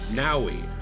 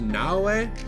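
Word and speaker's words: Naoe: game, and I believe her name is pronounced Naui. I originally thought it was Naue, but everybody says Naui, so we're gonna go with Naui in this.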